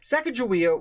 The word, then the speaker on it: Sacagawea: j or a k i am pronouncing it with a j sound however i do this